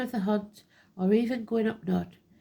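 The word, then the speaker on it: Gwyn ap Nudd: He may be known as Serenus, Hern, the Hunter, the Horned God, Master of the Hunt, or even Gwynupnod, pronounced Gwynupnod, King of the Fairies.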